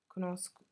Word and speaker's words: conosco: So with io, it's conosco, because CO next to each other is a k sound, conosco, whereas the SCI sound in Italian is she.